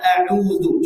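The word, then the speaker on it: أعوذ: tipis Bapak Ibu ya jaga sifat tipis pada huruf dalal pada kata auudu Coba kita praktikkan auu nah ini terkadang kita bacanya jadi tebal Kenapa karena sebelumnya dah pos mulut kita sudah monyong au kemudian kita ucapkan jadi Nah maka caranya bagaimana kata para ulama salah satu caranya ditarik sedikit coba nah Biar tipis auuah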